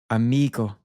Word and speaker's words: amigo: For most words, the stress is placed on the second last syllable. This is sort of the default rule. You can hear this with words we have covered so far in the lesson. Mañana. Amigo.